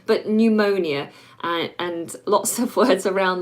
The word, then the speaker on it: pneumonia: down for you now pneumonia it has a silent P a lot of words